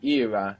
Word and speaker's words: era: And if we pronounce era as if it was Spanish, we get Era.